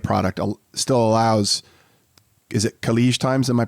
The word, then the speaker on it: Khaleej Times: under the affiliate product, still allows, is it Khaleej Times? Am I pronouncing that correctly?